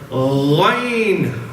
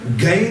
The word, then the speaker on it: Ghain: Next one is Ghain. And this one is another letter. Gain, people they pronounce it as Gain. Gain is wrong.